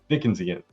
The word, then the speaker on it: Dickensian: a dick dick Dickens dickensian I don't know how to say that anyway it's like Charles Dickens um dick dickensian yeah there you go dickensian I could not pronounce